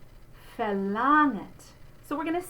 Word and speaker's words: verlangt: And the NG spelling, again, we're just going to say we're not going to go g. So verlangt. It's not verlangt. And again, it's the bright ah. I want to remind you because I can just hear students doing verlangt, and that's not it.